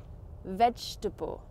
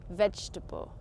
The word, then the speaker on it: vegetable: How do you pronounce it? Correct, it's vegetable. Vegetable. I've also written this here to show you how I break down the word in Carly's phonetics. Vegetable.